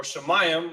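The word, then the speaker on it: שמים: My help from Yahweh, who made, and then you have Shamayim, or Shemayim, as we pronounce it sometimes, H8064, which means heaven.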